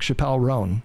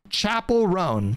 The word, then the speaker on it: Chappell Roan: And then we have these stunning and brave people like Chappell Roan coming forward and being upset about government and then posting about it on the internet.